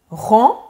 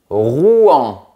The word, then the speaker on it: Rouen: Et la troisième, Rouen. Presque. Il faut bien séparer les syllabes. Rouen.